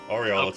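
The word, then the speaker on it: Aureolus: I forgive you Lexi how how do they pronounce it um Oris or aelius oh aelius no Aurelius was the one they say oriolus is correct I'm sorry I was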